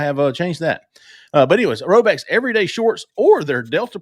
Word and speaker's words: Rhoback: But anyways, Roback's everyday shorts or their Delta Performance pants are the perfect pairing as well.